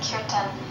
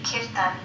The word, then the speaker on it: kirtan: Yes, well, the term is from India, and although we say in the West, we say kirtan, in India, the pronunciation would be kirtan.